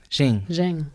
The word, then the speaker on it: Ching: H I N G right but it's pronounced Jing Jing.